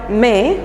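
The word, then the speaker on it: Meung: So this happened in a place called May, that is M-E-U-N-G is pronounced as M-E-H.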